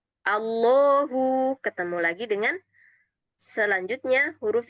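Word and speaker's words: الله: Nah, dia di situ masih tipis bismillah bukan bismillahi. Nah, ya. Tapi ketika setelah ee ketika huruf H ya Allah kan akhirannya huruf ha ya. Ketika harakatnya adalah fathah ya, maka dia dibaca tebal.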